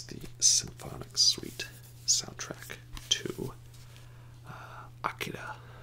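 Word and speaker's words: Akira: symphonic suite soundtrack to Ikeda or a cure if you'd like I prefer the Japanese pronunciation though so a 1988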